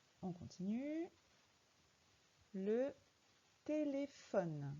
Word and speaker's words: téléphone: Le téléphone. Dans téléphone, le son F s'écrit PH.